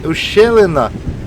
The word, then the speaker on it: ущелина: Ну, ущелина це так наголос на е.